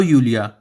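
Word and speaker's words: Julia: Hello Neena, hello यूलिया। आपको बता देता है जे का स्पेलिंग, जे जो है वो वाई जैसा साउंड करता है जर्मन में, तो हम इसे जूलिया ना पढ़ के जूलिया पढ़ेंगे, जूलिया।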